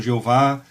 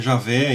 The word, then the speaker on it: Javé: Que alguns pronunciam Jeová, outros dizem que o certo é Javé, eu costumo falar Javé, quando falo sobre isso.